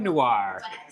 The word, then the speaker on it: Noir: this word it's funo Noir Noir no it's like one syllable not two okay okay this is